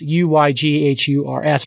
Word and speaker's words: Uyghurs: and about half of those 25 million are uyghurs uh which is spelled u y g h u r s but pronounced uyghurs which is a muslim minority and